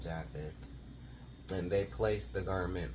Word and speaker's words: Japheth: And Shem took his garment and arose, he and Japheth, or Japhet. Some people pronounce Japheth. Some people pronounce it Japhet. I pronounce it Japheth.